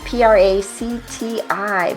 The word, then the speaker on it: Practi: Kerbis, a subscription attorney and CEO of Practi, p r a c t i. Practi, I'm so glad you gave me the pronunciation for that.